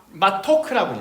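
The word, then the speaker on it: מתוק: 이거는 마토크라고 읽어요. 마토크. 아까 쓰다가 마라죠. 마라가 쓰다면 마토크는 달달해요. 약간 라임이 있어요. 마라, 마토크.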